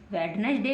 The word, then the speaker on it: Wednesday: जबकि ये गलत है, वेडनेसडे नहीं पढ़ना है हमको पढ़ना है वेडनेसडे। क्या पढ़ना है, वेडनेसडे, क्योंकि हम डी को साइलेंट रखेंगे, छुपा करके रखेंगे।